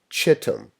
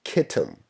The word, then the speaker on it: Kittim: with the kingdom of Chittim or Kittim, depending on your pronunciation.